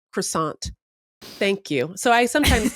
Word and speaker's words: croissant: And what really got me most recently is this British guy on TikTok being like, I hate how Americans say croissant. It's not croissant. It's croissant.